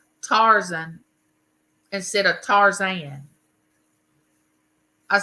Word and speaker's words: Tarzan: mother-in-law loved the original tarzen and my and my daughter says Mama it's not tarzen it's Tarzan I said it might